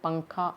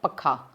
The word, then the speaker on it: पंखा: अब पंखा, तो ये देखिए अगर हम इसके ऊपर अनुस्वार नहीं लगाएं तो उसका उच्चारण कैसा होगा? पखा। लेकिन हम इसके ऊपर अनुस्वार लगाएंगे तो इसका उच्चारण किस प्रकार होगा? पंखा।